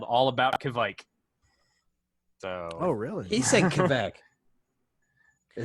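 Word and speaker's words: kveik: He's a little bit off on his pronunciation. Kishmike. It's okay. we'll ask our in-house Swede. What, Well, I'll tell you Joel, what we're could gonna you say it again? Say it again one more time. Kvike.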